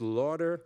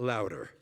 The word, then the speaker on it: Lauder: So that, for those of you who don't know, my name is Lauder, not Lauder.